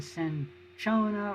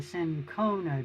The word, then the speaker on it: cinchona: And way back in the 1600s, Jesuit missionaries brought back the bark of the cinchona or the cinchona tree, both pronunciations are correct, which has quinine in it, which was a useful drug for treating malaria.